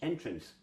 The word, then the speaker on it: entrance: Entrance. Okay, entrance. Now the interesting thing, that's where we're fooled by emphasis. Phonetics of that mean that we would spell it Entrince, because that's how you say it phonetically.